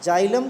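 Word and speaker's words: xylem: download कर लो कि जाइलम को आप पढेंगे उन्नाव स्टेशन तो इसका एक से उसको स्पेलिंग को अक्षर से शुरू होता है जाइलम ठीक है लेकिन पड़ते हैं इस तरह से कि जाइलम और जाइलम का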